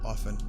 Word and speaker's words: often: to fucking save off often because I was told when I was in school not to pronounce the T and often and it still fucks with